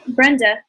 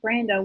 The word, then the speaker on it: Brenda: time then that makes Brenda Brenda not Brando Wow pronounce the name